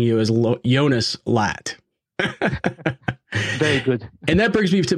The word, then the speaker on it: Latt: you're not slack ah lat not lot okay yes the a is really a bit more open that's correct okay so